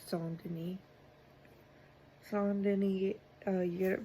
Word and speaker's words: Saint Denis: It's spelled Saint Denis or Saint Denis, but it's Saint Denis.